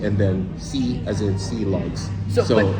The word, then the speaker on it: Silog: Most Chilog spots, and I know I'm going to say it wrong a couple of times because I'm trying to break a bad habit here. Silog spots. Silog.